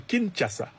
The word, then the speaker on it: Kinshasa: L'Union européenne en signant cet accord privilégié avec le Rwanda de Kagame a clairement dit à Kinshasa, et on me dit qu'il faut prononcer Kinshasa, a clairement dit à